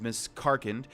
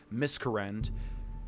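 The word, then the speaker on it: Miscarcand: is so weird cuz I've always pronounced it miss current never realizing that I was actually mispronouncing it the entire time okay so let's do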